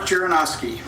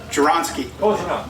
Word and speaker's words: Jaronski: We are very pleased to also be joined by Jaronowski. Did I pronounce that right? No? Is that okay? Did I butcher it? Jaronski. There we go.